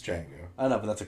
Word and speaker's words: Django: It's The D is silent. I know it's Django.